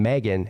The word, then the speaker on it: M3GAN: According to this, robotic dolls from James Wan's upcoming film Megan, M3GAN is how it's spelled, spooked fans at LA Chargers game.